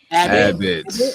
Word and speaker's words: Abbott: She did a Abot I think it's Abot Elementary. That's how you pronounce it. Abbott.